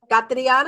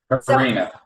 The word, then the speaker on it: Karina: We have, let me just, Catriana, am I saying it correctly? Catriana, you're on mute. Katrina. Katrina, keep reminding. No T in there. Karina. Yes, Katrina. No T, Renee. Karina.